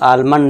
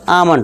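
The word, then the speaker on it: almond: तो ये आलमंड नहीं होगा, आमंड होगा।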